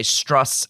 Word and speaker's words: Strauss: Now, his name is spelled Strauss, but this gentleman went by Strauss as to reduce the Jewishness of his name, and he has said